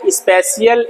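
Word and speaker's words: spatial: existence एकिस्टेंस intelligence ठीक है पहला है स्पेशल इंटेलिजेंस इसका स्पेलिंग ये है स्पेशियल टी साइलेंट आता है स्पेशल इंटेलिजेंस विजुअल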